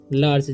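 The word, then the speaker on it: large: इन ए लार्ज, इसे जी का लार्ज नहीं पढ़ना है या लार्गे नहीं पढ़ना है, इसे पढ़ना है लार्ज। जी का उच्चारण यहाँ पर ज होता है।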